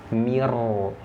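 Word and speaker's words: مرصاد: Maka kalau ada huruf ra mati sebelumnya kasrah, sesudahnya huruf isti'la, tapi ada syaratnya, dia tidak berharokat kasrah. Nah, dia harus berharokat fathah atau dhammah. Coba, maka dibacanya tebal. Mirsad, nah, jangan jangan mirsad, tidak. Mirsad. Nah, seperti itu. Jadi huruf ro-nya dibaca tebal.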